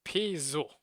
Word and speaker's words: Peugeot: So instead of the G, it's a Z.